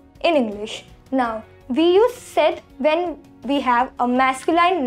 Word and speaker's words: cette: third one is seth c e t e set which means this in english we use c